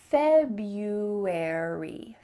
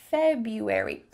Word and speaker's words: February: kind of weird to have a silent R in the middle of an English word, but that's the way it is. So make sure that you say February. February.